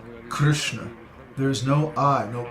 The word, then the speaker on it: Krishna: that but actually the way it should be pronounced Krishna there is no I no Krishna Krishna so